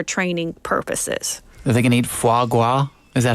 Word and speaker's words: foie gras: They can eat foie gras. Is that how you pronounce that?